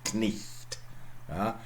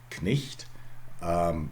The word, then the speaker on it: Knecht: Try to pronounce it, Knecht. Knecht.